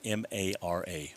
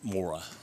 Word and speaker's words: Mara: her name she goes think of it as m-a-r-a mara not mora mara and here comes the